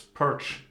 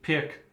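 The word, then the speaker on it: Pirc: A lot of debate how you pronounce Pirts. Pirts, Perch, Pirk. But I believe Pirts is correct.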